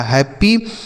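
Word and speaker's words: happy: बनता है प लिखेंगे प और वाई का उच्चारण बड़ी ई की मात्रा लिखा हैप्पी मतलब होता है खुश हैप्पी मतलब क्या होता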